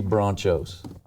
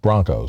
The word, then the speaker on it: Bronchos: Bethany Bronchos. No, Broncos. Well, we spell it Bronchos, though.